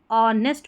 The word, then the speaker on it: honest: पहले भी आ गया ये ऑनेस्ट पढ़ेंगे एच साइलेंट है पर सन पर्सन फिर